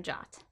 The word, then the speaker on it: JWT: Firebase gives you complete control over authentication by allowing you to authenticate users or devices using secure JSON Web Tokens, pronounced JOT.